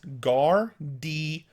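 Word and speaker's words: gardyloo: It's Gar-de-loo. Gar, like a pirate growling. Like gar. D, like the letter D. And loo, like a British word for toilet.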